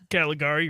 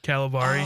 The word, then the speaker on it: Caligari: How do you say Caligari, right? Yeah. Wait. With his own statue? No, he keeps wanting his daughter to watch the movie, the Dr. Caligari.